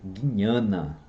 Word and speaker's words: jnana: eu falei, conhecimento, jnana, esse J aqui com esse N com acento, a gente lê jnana, né? É assim que se pronuncia, tá?